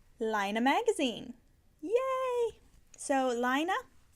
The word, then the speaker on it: Lino: magazine yay so lino you might have seen some people call this Lane magazine the correct connect the correct Norwegian pronunciation is lino if this was a French magazine it would be called Lane but it's not it's a Norwegian publication so it is called lino this contains if you're